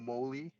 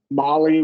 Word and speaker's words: Molly: sentences is this uh Molly or moly Molly with a short O Okay Molly and Larry